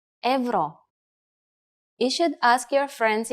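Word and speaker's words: евро: join the Euro Zone in Bulgarian euro is pronounced Evo you should ask your friends in Bulgaria if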